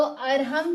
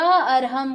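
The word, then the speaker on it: अर्हम्: तो अरहम की ध्वनि में अ ह र और बिंदी दोनों है। यानी म का उच्चारण और आधा र का उच्चारण। तो अ आधा र ह और फिर बिंदी यानी आधा म का उच्चारण। यह पूरा अरहम का उच्चारण होता है।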